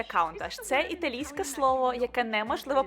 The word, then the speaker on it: Countach: досить Круто А тепер каунтаж Подивіться сюди пишеться Ось так але вимовляється каунташ це італійське слово яке